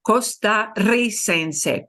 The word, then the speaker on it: costarricense: To replicate that, they double the R in the nationality word. Costarricense, costarricense, because we slam it together, we gotta want to keep the strong trill that would be here. So we double the R.